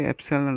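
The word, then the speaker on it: epsilon: Okay, एप्सिलॉन नॉट। इसका pronunciation आप इस प्रकार है APSALON, एप्सिलॉन नॉट।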